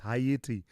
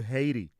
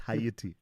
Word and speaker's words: Haiti: It's Hayiti. And in fact, if you to take it to the extreme there, they say I and they drop the H as opposed to Haiti. It's not Haiti. It's Hayiti.